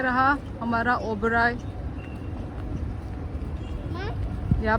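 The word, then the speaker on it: Oberoi: ओबेरॉय pronounce ओबेरॉय।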